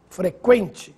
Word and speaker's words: frequente: atenção nestas palavras que frequente sequestro delinquente Agora sim você ouviu som da letra U Veja a diferença no